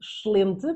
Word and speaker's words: excelente: E eu sei que vocês brasileiros têm os ouvidos um bocadinho a sangrar quando eu digo excelente, porque eu comi todos os es, mas é mesmo assim que os portugueses o vão pronunciar.